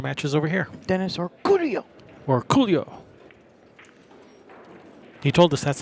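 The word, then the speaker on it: Orcollo: Or Coolio. He told us that's how we have to say his name. I asked him, how do you say your last name? He says, Orculio.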